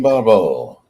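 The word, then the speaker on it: Barbeau: Adrian Barbo.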